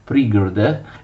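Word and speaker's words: пригороды: Le città vicine, che venivano chiamate Prigorode, si scrive così e si legge Prigorode, erano abitate, come abbiamo visto, dai parenti del Gran Principe di Kiev.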